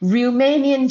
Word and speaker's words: Riemannian: Once again it is R I E M A N I A N Romanian geometry.